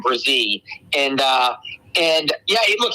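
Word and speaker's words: Bresee: defensive tackle Brian what bressie yeah the correct pronunciation Brian um brazee and uh and yeah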